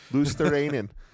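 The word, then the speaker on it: Luostarinen: And then they have Anton Lundell, who's from Helsinki, and Mikkola, and Lusitarainen. That's how you say it? It is now. It is now. That's Lusitarainen. That's the Yes. Finnish saying of it.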